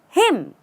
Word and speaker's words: hymn: do you say this not him again the N goes away and we add an i and it becomes him that's all there's no raise uh there's no raising your pitch there's no